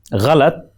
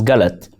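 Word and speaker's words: غلط: Ghalat, meaning wrong, in Hindi and other dialects is pronounced as galat.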